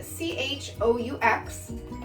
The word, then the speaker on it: choux: So cream puffs are made from something called choux pastry, which, not like the shoe you wear on your feet, it's spelled C-H-O-U-X. So with that O-U-X silent end of the word, you know it's French.